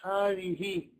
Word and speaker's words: هذه: Sounds like you're pronouncing an alif over here after the ha.